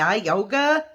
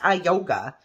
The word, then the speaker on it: IUGA: So, or I yoga, I think it's pronounced I yoga.